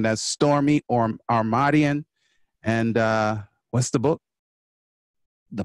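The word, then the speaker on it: Stormie Omartian: Y'all need to learn how to pronounce that name. That's Stormy Omartian.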